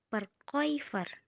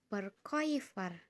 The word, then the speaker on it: Verkäufer: Kemudian ada A umlaut bertemu dengan U. Dibacanya OI. Sama ya kayak yang tadi. Contohnya Verkäufer. Coba teman-teman ikuti kata Verkäufer. Verkäufer.